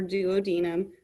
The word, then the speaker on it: duodenum: It hits your esophagus, it hits your stomach, it hits your duodenum or duodenum, depending on who is pronouncing the word.